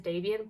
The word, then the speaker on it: Davian: reading the second book there's a pronunciation guy in the back and it is Davian but it's too late he's dobbying now okay he is one